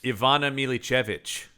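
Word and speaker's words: Ivana Milićević: How do you pronounce her name? Ivana Milichevich.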